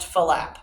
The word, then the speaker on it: flap: Now, because the movement called the flap has two sounds, it's generally pronounced falap, but it's spelled like flap.